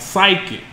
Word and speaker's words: psychic: He gave you silent P words. Like psychic.